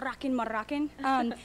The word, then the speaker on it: Rockin' Moroccan: You got to roll your R's though. Rockin' Moroccan.